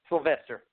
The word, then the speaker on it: Sylvestre: and it's spelled – is it pronounced Sylvester or Sylvestre? I wasn't quite sure. Sylvester. It is Sylvester, so I'm right.